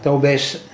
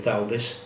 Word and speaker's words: Taubes: Jacob Taubes in divergente accordo, scritti su Carl Schmitt, edito da Quodlibet. Il libro è del 1996. Il nome di Jacob Taubes, noi pronunciamo alla francese, forse anche Taubes, c'era stato fornito nel